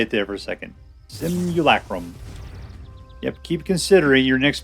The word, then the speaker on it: Simian Simulacrum: Simian Simulacrum. That's how you say it. Boy, I've pronounced that word like a billion times. Couldn't say it there for a second. Simulacrum.